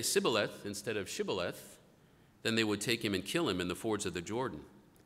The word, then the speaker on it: Shibboleth: And if he would say no, they would say to him, "Then say Shibboleth." And he would say Sibboleth, for he could not pronounce it right.